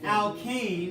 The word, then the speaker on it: alkane: So alkane is how you say the first one.